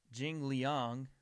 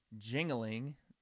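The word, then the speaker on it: Li Jingliang: Guan now we have Jing Liang or in in my pronunciation when I first saw the name jingling hashtag no racist but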